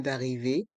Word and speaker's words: arrivée: Le E à la fin d'arrivée est muet.